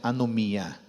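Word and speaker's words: ἀνομία: Mas essa palavra foi traduzida pelos tradutores da Sociedade Bíblica do Brasil, de uma palavra grega que se pronuncia anomia.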